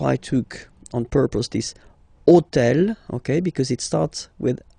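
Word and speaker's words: hôtel: took on purpose this hotel. Okay? Because it starts with ash. But remember that in French we don't pronounce ash. Okay? So basically the first sound of the word is the vowel o.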